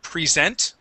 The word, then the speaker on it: present: okay now um uh this word is spelled the same as uh two different meanings so we have the the meaning present okay which is the verb to present and present which is the noun okay with the verb yeah with the verb uh it is a long e at the beginning okay with the noun it's